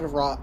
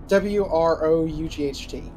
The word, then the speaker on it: wrought: What's known as the Blood Rot Armor. That's great. You should put that on. Yeah, that sounds healthy. Not rot, No. but WROUGHT.